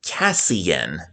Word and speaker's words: Casein: And this player right here was actually one of my enemies when I was younger, Caseine. But on reading Rainbow, it's pronounced Cassen.